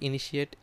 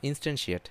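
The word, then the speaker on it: instantiate: আসে দেখেন, ক্যান নট ইনিশিয়েট abstract class user, হ্যাঁ। আপনি কী করতে পারবেন না, ইনস্ট্যান্সিয়েট, সরি আপনি ভুল উচ্চারণ করতেছিলাম, ইনস্ট্যান্সিয়েট মানে হচ্ছে এই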